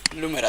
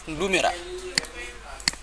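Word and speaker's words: Lumera: ব্র্যান্ডের নাম ছিল, কিন্তু আমি একটু কপি করি, লুমেরা, তাই না? এটা প্রোনাউন্সিয়েশন কি লোমেরা না লুমেরা? লুমেরা, তাই না?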